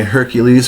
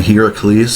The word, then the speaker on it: Heracles: So I got my Hercules right here. A Heracles, sorry. I call it a Hercules just because, well, it's pretty much how it's spelled.